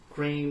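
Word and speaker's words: Kreem: pretty short pause there when I say clean I want to cream our coffee I think y'all know what I meant but it's not felt that way it's spelled KR e edom clean cream is breaking out of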